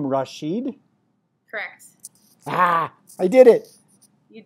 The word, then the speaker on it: Rashid: and her name is and you pronounce your last name Rasheed ah I did it you did can you